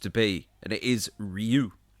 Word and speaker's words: Ryu: we have damon chapper not being able to pronounce the name ryu or ryu he calls it riyu i think there was